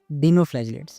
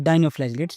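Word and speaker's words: dinoflagellates: Topic 2.2.2 डीनोफ्लैजिलेट्स या फिर डाइनोफ्लैजिलेट्स, जो भी आप प्रोनाउंसिएट कर सको।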